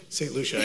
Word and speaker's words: St. Lucia: Did I say that right? St. Lucia. I know I always say it wrong.